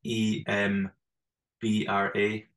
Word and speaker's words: Edinburgh: Edinburgh Edinburgh Edinburgh here sometimes we say it just like if you were to spell it it would be e m b r a embra embra yeah that's the quick way but yeah Edinburgh I